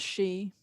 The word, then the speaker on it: Sidhe: Sidhe is the older spelling. Si with a fada is the newer spelling. Just pronounce she.